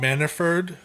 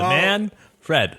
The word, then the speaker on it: Manfred: they i i i i personally think rob manafort is that's not how you say his name is it it's manford and fred man fred he's a man fred manfred scott manafort no no you're listening to